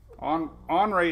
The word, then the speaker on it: Henri: Henri is the annoying, it's an ornery Henry name. It's Henry with an I. The H storm. With no H in the pronunciation.